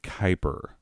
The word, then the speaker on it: Kuiper: her belt size is kyber kuiper i know it looks like quipper but it's pronounced kuiper yo mama's so fat